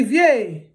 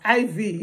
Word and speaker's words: Ivie: Never you allow anybody call your daughter abbreviation of Ivie as Ivy. It's not Ivy, it's Ivie. It's Ivie, not Ivie. Ivie, no, it's Ivie, it's pronounced as Ivie.